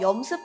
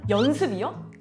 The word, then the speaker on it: 염습: 그래서 원래는 습염이라고 불렀는데 발음하기가 조금 어려워서 염습이라고 하고 있어요.